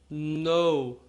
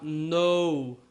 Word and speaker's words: know: Toda vez que eu tiver K e N, eu não vou pronunciar o K. Isso é muito estranho para nós, mas é assim que se fala. Então eu vou falar no, certo? No.